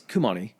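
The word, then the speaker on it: Khomeini: name yeah it no it is it's it's kumani okay um so he is again the I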